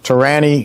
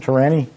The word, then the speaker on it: Torani: Jeff suggested some Torani. Is that how you pronounce it? Torani? Torani.